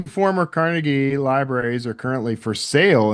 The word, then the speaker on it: Carnegie: when we lived in Pennsylvania, we actually lived in Carnegie, Pennsylvania. Like they pronounce it Carnegie there. If you pronounce it Carnegie, you get yelled at.